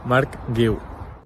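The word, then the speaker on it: Marc Guiu: Mark Gil.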